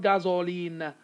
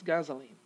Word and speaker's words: gasoline: to have a schwa gasoline it's not gasoline okay it's gasoline here we're going to have a schwa gasoline so it to